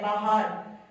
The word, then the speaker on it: باہر: باہر یہ ہے باہر اور یہ سائلنٹ آ جائے گا.